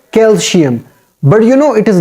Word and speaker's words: calcium: like calcium not calcium the sounds of C should be maintained it should not be replaced with SH sound sh sound it should